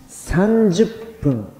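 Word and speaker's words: 30分: 、15 分、30 分。10 分と 10 分が同じだったように、こちらでも同じように、どちらでもいいです。30 分、30 分。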